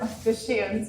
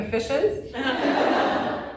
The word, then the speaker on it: officiant: And I learned how to pronounce the word officiant. I had to go do ADR because I kept pronouncing it efficient. And I had to go twice to do ADR, and I was like, no, you cannot pronounce it.